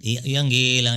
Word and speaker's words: Ian Gillan: Ianilan es que se pronuncia.